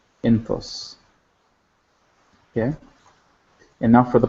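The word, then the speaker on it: ⲛ̀ⲑⲟⲥ: And then for she, same thing, jinkim, ne, theta, o, and sima, enthos, enthos. So for all the singulars, let's just review the pronunciation one more time. Anok, enthok, entho, enthof, enthos.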